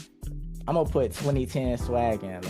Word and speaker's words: 2010swaggin: All right, so a lot of people say it like that, but it's pronounced 2010 swaggin. Oh, dang. A lot of people say it like 2010 swaggin. It's pronounced 2010 swaggin.